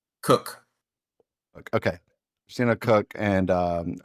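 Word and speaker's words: Koch: Is it Cotch Cook?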